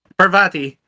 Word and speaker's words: Parvati: Parvati.